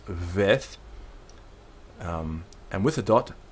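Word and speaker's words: ב: letter Beth right so without the dot in the middle it's veth um and with a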